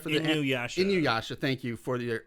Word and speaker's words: Inuyasha: I think I'm pronouncing it right for the Inuyasha.